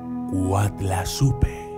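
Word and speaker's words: Coatlaxopeuh: azteca del agua que se escribe quad laxo pero pero que se pronuncia wat la supe que suena muy parecido a la palabra en español guadalupe y el significado de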